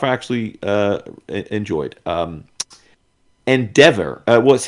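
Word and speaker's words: Endeavour: Um Endeavor. Uh well, I don't know if it's Endeavor or Endevour. Uh cuz it's spelled end devour and I think that's the point. So it may be N devour.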